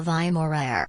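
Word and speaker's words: vai morrer: That's how you say it. Vai morer. It's not morer. They don't roll the tongue.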